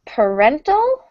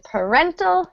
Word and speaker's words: parental: one note pronunciation um stress in parental is actually on the second syllable in the word parent it's on the first syllable but in parental it moves second syllable